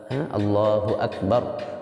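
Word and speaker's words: الله أكبر: আলিফ লম্বা করবেন আলহামদুলিল্লাহ আল্লাহু আকবার আল্লাহু আকবার বলার ক্ষেত্রে রা উচ্চারণ না করলে আল্লাহু আকবার বলে যদি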